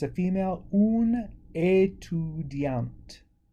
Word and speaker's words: étudiante: So because we're adding another vowel at the end with the female form, we can pronounce the T.